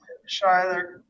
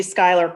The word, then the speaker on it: Skylar: Phil Carloni, Tricia Bohan Ridinger, and Shyler. That's supposed to be Skylar Coulter.